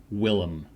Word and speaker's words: Willem: Willem. It's Willem. Willem, Willem. not Willem. Vilm. Oh, Willem the villain. Willem. Okay. Think Willem. Willem Dafoe.